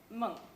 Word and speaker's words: Munch: I'm gonna I'm gonna butcher his name Edward monk yes yes I said it right I've been saying I'm pronouncing it the American way so I have